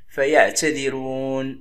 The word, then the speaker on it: فيعتذرون: نركز على الراء، فالراء ترقق هنا لأن قبلها كسر لازم أو مسبوقة بكسر، هنا هي اللي مكسورة. إذا كانت مكسورة أو مسبوقة بكسر تقرأ مرققة. نقول فيعتذرون، رون ما نقولش رون.